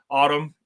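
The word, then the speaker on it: Atum: So, a really subtle nod to 2023, their their newest album, Autumn, that is spelled at Tom or Adam.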